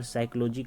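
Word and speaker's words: psychology: पी एस वाई सी एच ओ एल ओ जी वाई होगा। यहां P silent रहता है। ये ध्यान में रखिएगा।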